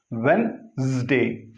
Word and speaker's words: Wednesday: It is Wednesday. Wednesday. Here, this D is to be silent.